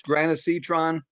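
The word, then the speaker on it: granisetron: uh jake go ahead what's it called it's granacitron um that may not be the right way to pronounce the g-r-a-n hang on let me get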